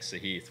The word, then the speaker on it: Sahith: of them are saying saheeth which which i kind of went by when i was younger but that that seems to be it's just easier to yell saheed out here so i think that's what a lot of people are doing but it's saha sounds good and one more thing